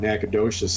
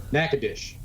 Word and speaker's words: Nacogdoches: I say something about Nacogdoches and he starts laughing and I said is my mispronounced 15 he says yeah it's Natchez now sports syllables short naca dish I'm all [ __